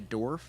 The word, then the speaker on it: dwarf: it's dwarf, not dwarf. Dwarf. Dwarf. There's a W You in don't there. pronounce it. Dwarf. It's a silent W.